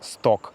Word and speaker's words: стог: Стог пишется. Произносится сток.